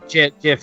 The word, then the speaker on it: GIF: he didn't know he'd know he didn't okay Jeff is is like yeah Jeff's the official way to pronounce it from the Creator is just a